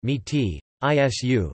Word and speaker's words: mestiço: are historically fluent the mestiço Portuguese pronunciation meaty is you meaty is you group